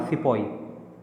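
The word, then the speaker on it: sepoy: India में हम सिपाही कहते हैं, तो ब्रिटिश ने इन्हें सिपोई कहा, क्योंकि उनका थोड़ा सा प्रोनाउंसिएशन का जो है डिफरेंस था। तो सिपाही को ब्रिटिश ने सिपोई कहा, सिपोई।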